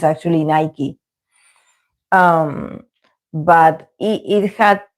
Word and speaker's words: Nike: same but here in Argentina we call it Nike. We call it Nike and that's not the proper pronunciation. It's actually Nike.